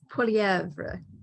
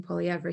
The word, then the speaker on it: Poilievre: Well, I think it's Poilievre. It's French.